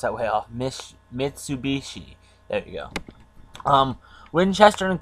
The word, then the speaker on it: Mitsubishi: I just some Japanese companies like Mitsubishi. I probably pronounced that way off. Mitsubishi.